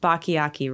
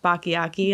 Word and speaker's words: Bachiochi: to you um and your last name is pronounced bakayaki right you got it i'm